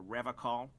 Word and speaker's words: Revachol: He pronounces Revacol with a hard K, unlike other people. You said a Revacol? I like to pronounce it the hard way, the old way, the Vespertine way.